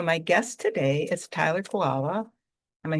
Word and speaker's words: Kiwala: So my guest today is Tyler Kiwala.